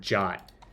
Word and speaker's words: JWT: where is it introduction the suggested pronunciation of JWT is the same as the English word jot it infuriates me to